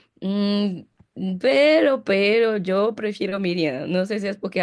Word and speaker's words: Miriam: pero pues o sea, yo creo que Miriam es la pronuncia más correcta, eh, que María como tal, aunque la María